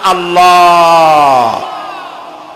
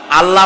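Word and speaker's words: الله: তাকা আমার আকাশের দিকে জমিনের দিকে আল্লাহর নাম আল্লাহ বলেন তো আল্লাহ নয় কিন্তু আল্লাহ হচ্ছে অশুদ্ধ শুদ্ধ হচ্ছে আল্লাহ বলার সময় মুখটা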